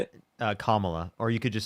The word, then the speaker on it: Kamala: I more support Trump and is sorry I don't know how to pronounce it. I'm sorry. How do you say it? Kamala.